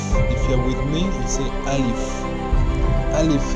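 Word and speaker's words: ألف: here is alif if you are with me alif alif how we pronounce it i say alif it's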